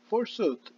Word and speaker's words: forsooth: origin is old english and it means indeed forsooth indeed all right so this let's see it